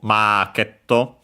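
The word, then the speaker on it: マーケット: But yeah, after that we would have for supermarket also marketto. So yeah, again we have an R sound, which simply becomes the vowel with longer.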